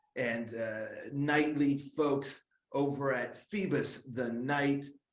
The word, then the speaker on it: Phoebus: Or am I pronouncing that? Is it Phoebus? Yes, it's Phoebus. Phoebus.